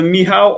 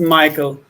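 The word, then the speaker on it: Michał: am muted yeah uh mihao or just michael you can call me michael michael uh but there's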